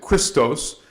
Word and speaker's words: Christos: is something Universal called Christos in English you can say Christ but we pronounce it Christos and so this is